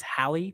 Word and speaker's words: Halle: mccalla from from springfield i think it's hallie mccalla um i'm gonna go to my my expert what are we gonna do here yeah it's hallie it's halle spelled like and this is it always gets me because you can spell haley and halle in 70 different ways but halle mccalla has